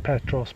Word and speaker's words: Petros: MOI - J'ai dit Petros, mais sur le film il a dit «Peetros» (prononciation).